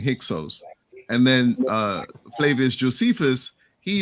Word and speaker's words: Hyksos: So I would say that, so Heka Kesut, which was more like kind of like the original pronunciation, it means foreign rulers. And then it was Manetho who started saying Hyksos.